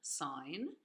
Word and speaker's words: sine: There's this button, which is pronounced sine, not sin, sine.